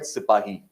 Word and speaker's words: sipahi: mean by sippo and the word has come from the Hindi Urdu word sipahi sipahi since the britishers could not pronounce that word it got anglicized to sepoise so there are a